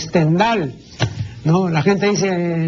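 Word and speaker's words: Stendhal: del célebre escritor francés la gente suele pronunciar stendal No no es stendal pues es stendal no la gente dice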